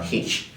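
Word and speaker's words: Hirsch: George H index or if I'm if I want to be very perfect with pronunciation of the of that particular word it's called a uh hitch and this index involves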